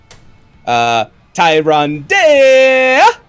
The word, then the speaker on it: Tyrande: Tyrande is how I like to pronounce it.